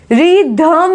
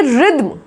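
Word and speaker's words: rhythm: Okay, next देखो रिद्म, रिधम नहीं बोलेंगे, रिद्म, रिद्म बोला जाता है, इसका प्रोनाउंसिएशन है।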